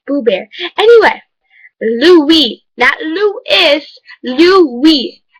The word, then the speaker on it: Louis: is blue bear okay it's boo bear anyway Louie that Lou is Lou we l owe you